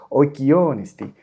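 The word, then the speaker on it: οἰκιῶν ἐστι: en su última sílaba, la cosa queda tal cual y tal cual se pronuncia: oikionesti, oikionesti.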